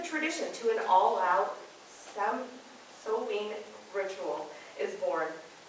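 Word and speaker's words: Samhain: now from just the tradition to an all-out some Sovine ritual is born pronounced so in or sewing the meaning is Summer's end according to Halloween from Pagan ritual to party night Rogers 2002.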